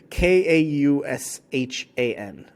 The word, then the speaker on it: Kaushan: Oh, wait, this is literally Kaushan. So how would you pronounce that? Caution? Caution? Sounds like caution.